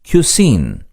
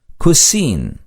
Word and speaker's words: cuisine: Cuisine என்று இச்சொல் உச்சரிக்கப்படும். Cuisine.